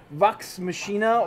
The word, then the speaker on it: Vox Machina: next is luck Vox I'm gonna pronounce it Vox machinae or Vox machina and that's the critical